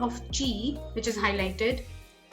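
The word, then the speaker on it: ち: Now you have to actually take care that it's not ti, it's chi, and this one not su, not tu, but su. So this is what I mean. It's tsu, su.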